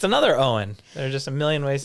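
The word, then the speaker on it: Eoghan: Owen Owen okay next e-o-g-h-a-n this is obviously Egan Egan is it Eagan no no it's also Owen Owen it's another Owen there's just a million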